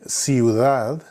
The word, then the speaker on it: ciudad: You can see there that the C, normally the sound is k, like cry, like casa. But whenever there's an E or an I following the C, then it makes the S sound, ciudad o centro.